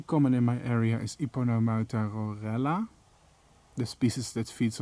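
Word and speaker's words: Yponomeuta: If I was American, I probably would have pronounced this as Wipernamuta. But I won't, because I actually know how to pronounce certain names. I'm not claiming I know how to pronounce every name though, but I know how to pronounce certain names. It's pronounced Iponomauta.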